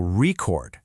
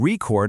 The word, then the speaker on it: record: You can have a vinyl record, stress on the first part, but then you can record a song, stress on the second.